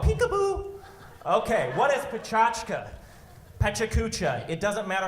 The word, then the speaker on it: PechaKucha: okay what is petrushka Pecha Kucha it doesn't matter how you say it it's bachata Pecha Kucha the Japanese kind of say it fast they say by cha cha it's not mystery bachata